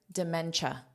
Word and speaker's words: dementia: And here, dementia. So notice this is pronounced as cha, cha.